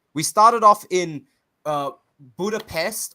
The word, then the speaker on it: Budapest: started off in uh Budapest or as they call it Buddha PES because because I'm going to have to do the wankery thing and say it the way the locals say it you know to appease